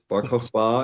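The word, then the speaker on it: Bar Kokhba: The Barokba revolt. Is that very close? Barba is how an Israeli would pronounce it. I think an American would say Barba, but yeah, Barokba.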